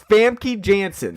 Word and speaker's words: Famke Janssen: like a how to say it yeah it's famke janssen famke yes funky is I think it is